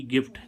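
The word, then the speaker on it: gift: ऐसे ही इसमें हम देखें जी आई एफ टी गिफ्ट। गिफ्ट means उपहार। तो जी के बाद क्या आ रहा है? आई। लेकिन फिर भी इसका उच्चारण क्या निकल रहा है?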